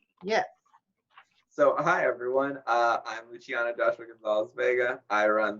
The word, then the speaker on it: Luciano: It's not spelled the same way that it's pronounced. There are C's, not CH's. Although the proper pronunciation does actually have the CH sound.